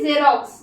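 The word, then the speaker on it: Xerox: एल O Xylo मतलब cast ठीक है फिर जेरोक्स जेरोक्स मतलब photocopy you know everyone known की जेरोक्स में फोटोकॉपी होता है स्पेलिंग होती है जेरोक्स की जड सॉरी एक्स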